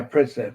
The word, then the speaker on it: Pritzker: Am I pronouncing his name right? Pritzker. Yeah, Pritzker.